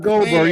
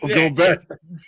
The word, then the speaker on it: Gobert: Gobert. Gobert. He always dominates. I think the difference in these games is Gobert, whatever his name is actually not Goldberg. You think about the wrestler, not Goldberg. Gobert.